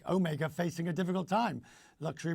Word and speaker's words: Omega: And as you know, because you've been many times, we have 4 official languages, but where Omega was born, it was on the French part.